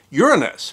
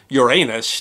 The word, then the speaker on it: Uranus: Most astronomers prefer to use the pronunciation Uranus, but that might be because so many of us in our adolescence found another pronunciation, Uranus, to be positively hysterical, especially considering that it's talking about essentially a giant ball of gas. But grammatically, both pronunciations are acceptable.